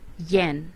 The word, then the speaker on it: yen: fourth one is gen it pronounced yen and it is the